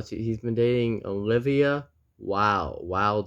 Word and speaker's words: Olivia Wilde: Oh, so he's been dating Olivia Wilde. The E is silent. Wild. Olivia. How do you know that? It could be No Wildy.